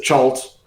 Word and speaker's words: Cha'alt: But I pronounce it Chalt.